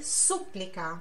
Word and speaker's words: súplica: tá lá no começo a gente fala suplica em italiano é Súplica tá então aqui Súplica